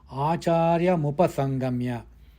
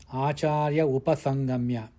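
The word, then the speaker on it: आचार्यमुपसङ्गम्य: Acharyamupasangamya. It should not be pronounced as Acharya upasangamya. No. Acharyamupasangamya.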